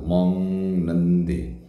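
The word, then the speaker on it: 먹는데: Cara bacanya huruf mati G di sini dibaca sengau, mong nende. Karena huruf mati G bertemu dengan nien.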